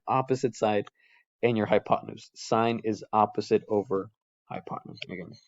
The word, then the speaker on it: sine: just say sin of data but we we pronounce it sine that's the actual name sine it's the ratio